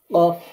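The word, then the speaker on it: ق: জিহ্বার গোড়া তার বরাবর উপরে তালুর সাথে লাগিয়ে অফ উচ্চারণ করতে হয়।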